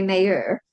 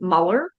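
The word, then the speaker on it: Meilleur: It's actually Mayor if you speak French.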